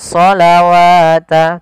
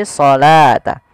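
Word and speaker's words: الصلاة: utsmaninya wa aqimus shata Bukan shawata tapi shata wa aqimus shata wa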